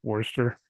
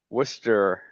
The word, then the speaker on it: Worcester: available for five to 15 unit properties in Forester? You know, I'm surprised I actually spelled that right. I pronounced that right. Uh yeah, it is a tricky one. Worcester.